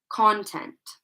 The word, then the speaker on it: content: Okay, So notice that the stress is placed on the first part of the word.